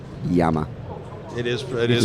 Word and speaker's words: Llama: don't know where they I believe they pronounced Yama it is it is pronounced YC y but will you americanize it no Yama I pronounce it elama yeah Yama which uh it also means I